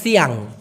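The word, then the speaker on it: siang: উচ্চারণ করতেছি সিয়াল অথবা মালাং কেন এত দুইবার উচ্চারণ করলাম দেখুন একটা শব্দ আছে সিয়াং এস আই এন জি সি সিয়াং সাধারণত ভোরবেলাকে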